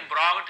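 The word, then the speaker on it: brought: यू यहाँ पे आप सभी को पता है यहाँ पे साइलेंट होता है, तो यहाँ पे आप देख सकते हैं जी यहाँ पे साइलेंट होता है, ब्रॉड बस पढ़ेंगे केवल, यानी लाया।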